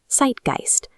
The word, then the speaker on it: Zeitgeist: However, because it's at the end of the word instead of the beginning, it stays a standard ST sound. When we put those pieces together, we get the accurate pronunciation, Zeitgeist.